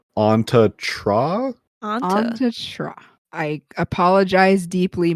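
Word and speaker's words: Antje Traue: Side note, upon a little bit of research, it appears as though you pronounce her name Anta Tra?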